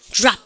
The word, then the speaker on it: drop: drop. 아, 잘하셨습니다. 두 번째 공식. 여러분 T가 생겼죠? T하고 R이 만납니다.